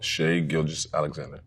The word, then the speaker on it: Shai Gilgeous-Alexander: Well, Shai Gilgeous-Alexander. I know some people say Shai. It's definitely Shai. The confusing part is probably the Gilgeous, so it's Gilgeous.